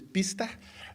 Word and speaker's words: Biesta: Professor called G biesta he's called in English but I do think the real pronunciation is bista in uh in Dutch and he argues that